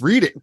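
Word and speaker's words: Redding: it's the name uh they don't even know how to say it right it's read it now um uh but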